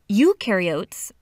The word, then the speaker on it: eukaryotes: like the nucleus and mitochondria and Golgi apparatus eukaryotes the you rhymes with do they do have membrane bound organelles